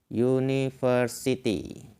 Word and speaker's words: University: u ini contohnya adalah University University nah hanya saja University ini sedikit unik karena kita tidak membacanya menggunakan u Tapi you yaitu menggunakan kata awalan